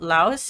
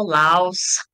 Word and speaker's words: Laos: you about Laos is is that how you pronounce it because I've heard people pronounce it as Lao Lao Laos does it does both of it work yeah sometimes there's no sometimes there's the S so I guess whatever works or okay I'm not sure